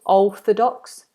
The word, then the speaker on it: orthodox: Big space in the mouth, no movement, not o, which lots of people do. O, orthodox.